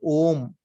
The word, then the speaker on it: om: now when we chant om another thing to understand is om has how many how many syllables does ohm have anybody three three how many say three everybody says three anybody differs no no